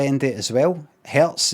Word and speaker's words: Hertz: Hertz has got a Z sound at the end that sounds like S.